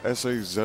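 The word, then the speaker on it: Sazh: And another $5 from anonymous who says, "Why does Sa Saz how do you pronounce S A Z H? Saz.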